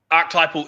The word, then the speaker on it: archetypal: i do apologize um archetypal is the correct pronunciation i have been correct